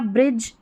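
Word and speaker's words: bridge: यहां पर हमारा जो डी है ना वो साइलेंट है। ठीक है? तो ये हो गया ब्रिज।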